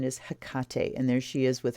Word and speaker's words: Hecate: here you hear a lot of people saying Hecate but the pronunciation is Hakata and there she is with her staff and